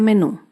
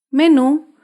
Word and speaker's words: menú: en la última sílaba por ejemplo la palabra menú menú se acentúa en la última sílaba menú las palabras